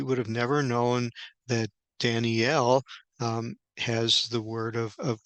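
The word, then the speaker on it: דָּנִיֵּאל: And so this is interesting here that Daniel, and in Hebrew, it would be pronounced Daniel, um, with the emphasis on the EL, and the L at the end is the somewhat abbreviated name for God.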